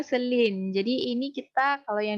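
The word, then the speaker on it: Shilin: Bacanya Selin.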